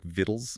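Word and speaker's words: victuals: It sounded like vittles. Vitals. Okay. But later on those Renaissance scholars overhauled the spelling to reflect the Latin root victualis meaning of nourishment. They crammed a c and a u into the spelling. But everyday people they just kept saying vittles.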